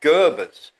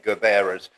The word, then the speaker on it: Gerbera: But we've had these, people have been saying they're Garand drones, but we've actually had Gerbers that have actually fallen into fields. I should say Gerberas, to give them their proper name.